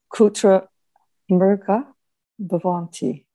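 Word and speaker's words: kutra mṛgā bhavanti: Now pronounce it with the sandhi correctly applied. So I drop the H dot. Is that right? That's correct. Kutra mriga bhavanti. Kutra mriga bhavanti. Correct.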